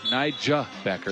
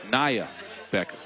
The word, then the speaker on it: Nia Becker: It's not Niga Becker, it's Nia Becker.